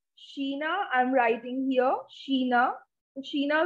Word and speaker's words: China: it's chinese-ish so for china the word is sheena i'm writing here sheena